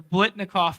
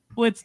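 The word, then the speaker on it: Biletnikoff: The Blitnikoff Award. Did I say it right? You did. Blitnikoff. Good work.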